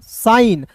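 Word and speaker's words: shine: देखिए साई, यहाँ पे साई, एन का न साइन, और अंतिम में आया ई साइलेंट होता है, तो एस एच आई को साई पढ़ेंगे, एन का न साइन।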